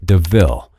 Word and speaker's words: De Ville: Horace steals Estella a new car called a Panther de Ville, and points out the similarity to the word devil, though it's pronounced DeVille.